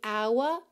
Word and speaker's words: hour: Mas a palavra hour é uma exceção, tá? Que a gente tem realmente o h mudo. Então, clock strikes upon the hour and the sun begins to fade.